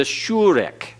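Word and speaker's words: shureq: The long U is the shurek. Everyone? Shurek. The shurek is as in butte.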